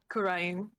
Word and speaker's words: Kurain: They come from a country called Kurain because it is spelled the same, but it has an apostrophe before between the A and the I. So you could say it either way, but the last like section is all one word rather than two syllables.